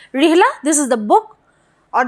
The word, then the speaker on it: Rihla: Rihala, or you can say it's Rihla, okay, whatever you pronounce. Rihla, this is the book